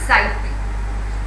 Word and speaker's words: sight: It is said ability to see something is sight, right? Now here the GH is silent.